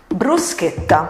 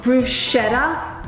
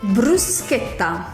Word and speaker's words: bruschetta: to make a classic, bruschetta. Before we start to make bruschetta, you need to learn how to pronounce it. It is not bruschetta, it's bruschetta. Bruschetta. Very simple. Very simple, not bruschetta.